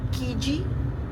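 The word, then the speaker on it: Kiji: सो the store is called कीजी। यू can also call की ही इफ you don't want pronounce the J part but it's like कीवी की तरह की जी के आई जे आई okay it's kind of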